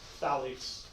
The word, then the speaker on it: phthalates: Yeah, phthalates. You just skip the pH.